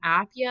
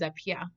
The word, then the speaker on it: Appiah: Like, I was like, wait, like, let's not call him Appiah. Like, that's really disrespectful. When I'm here and I can help y'all pronounce his name, his last name is Appiah.